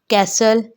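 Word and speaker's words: castle: इसी तरह कैसल, कैसल में भी टी प्रोनाउंस नहीं होगा।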